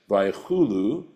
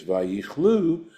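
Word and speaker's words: ויכלו: In other words, when we read it as Vaychulu, that's how our tradition tells us to read it. But if we read it as Vayichlu, then we're reading it the way it's spelled actually in the Torah.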